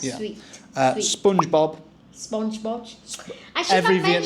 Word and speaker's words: SpongeBob: Bob with a B. We say Bobber. SpongeBob. SpongeBob. No P.